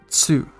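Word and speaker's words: つ: column uh it's pronounced tsu uh it's instead of saying two uh you would say two so you kind of combine the t and s sound to make it like that like you're doing a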